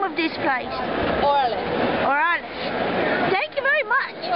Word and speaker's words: Orales: How do you pronounce the name of this place? Orales.